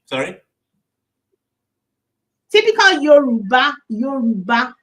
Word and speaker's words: Yoruba: Typical Yoruba. Yoruba name. Yoruba is spelled Y O Y O R U B A.